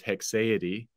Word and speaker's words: haecceity: And the most common way to pronounce that word is Haecceity. Okay. Not any other pronunciation.